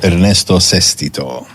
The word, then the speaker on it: Ernesto Sestito: and we say it correctly yes of course Ernesto ceso that is fantastic isn't it it's beautiful give